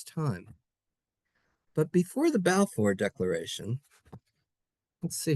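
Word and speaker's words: Balfour: Arthur Balffor. The Balffor declar declaration. It's spelled B A L F O R but it's pronounced Balffor.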